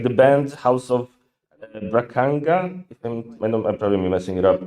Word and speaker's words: Bragança: It's sometimes very difficult to pronounce any word. It is called Bragança, yeah. Bragança.